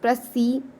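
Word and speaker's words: précis: Okay, अप्रेसी और अप्रेसी a French word pronounce प्रेसी connected with the English word प्रीसाइज।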